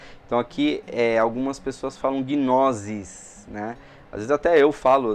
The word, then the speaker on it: gnosis: ter som de C e não de Z, Então o nosso S aqui é de gnosis e não gnosis, tá?